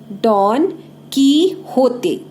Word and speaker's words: Don Quixote: Still this did not stop डॉन कीहोते. We will pronounce it डॉन कीहोते.